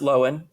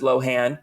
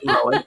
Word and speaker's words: Lohan: I've always known that her last name is pronounced loen and everyone says Lohan she she informs us about every seven to 10 years that it's actually loen and people act like this is a huge